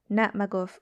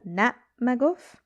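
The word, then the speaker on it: na' magof: So in the first example, the stress is on the first syllable, nat maguf. And in the second example, the stress is on the second syllable, nat maguf, if you can hear that.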